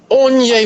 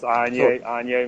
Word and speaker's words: Anyi: Onye Spell. it like that. I should Put spell it on in a sword fire.